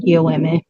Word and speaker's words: Yoeme: But yeah, generally it's Yaqui and Yoeme. Yoeme is what we call ourselves.